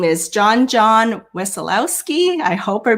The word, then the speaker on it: Wesolowski: about my last name i say it wassalowsky but when i went to eastern europe they told me i mispronounced my own name because not exactly how you would say in polish so yeah okay well